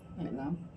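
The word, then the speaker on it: اعلم: I'lam rahimakallah atau i'lam arsyadakallah. Apaan tadi?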